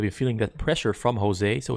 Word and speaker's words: Jose: It's a tongue twister to pronounce names starting with the J and the H, and the Jose being pronounced as a H.